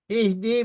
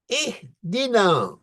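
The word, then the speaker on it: اهدنا: تو کوئی اہد پڑھتا، کوئی اور بھی تلفظ ہوتے ہیں، لیکن اپنے مولا کے نام پر یہاں پر رک جائیے، پھر دال سے تلفظ شروع کیجئے. اہدنا.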